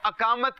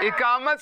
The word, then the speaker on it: اقامت: اچھا کچھ لوگ اس کو اقامت کہتے ہیں. اقامت نہیں ہوتا، درست تلفظ کیا ہے؟ اقامت صحیح اس کا تلفظ ہے.